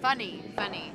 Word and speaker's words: Fanny: Funny, not Fanny.